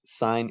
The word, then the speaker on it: sine: just say sin of data but we we pronounce it sine that's the actual name sine it's the ratio